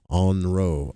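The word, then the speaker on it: ONRO: to all beings while pronouncing the mantra on row. O N R O and I'm sure you're going to roll that R and elongate both O's.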